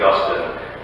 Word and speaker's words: Augustine: Augustine, which by the way is the correct way to pronounce that, famously said, "God has made us